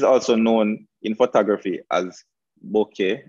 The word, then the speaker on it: bokeh: known in photography as bokeh i've also heard it being pronounced and always like boca so i guess the pronunciation is up to you but once you know